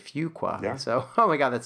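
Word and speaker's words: Fuqua: terms of like um I think people routinely mispronounce it and so they they often tell us you know make sure you say fugqua.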